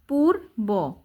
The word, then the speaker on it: পূর্ব: উঠেই দেখতে পায় পূর্ব, এই যে পদীর্ঘর পু বয় রেফ, পুর, এই যে রেফের উচ্চারণ র, পূর্ব।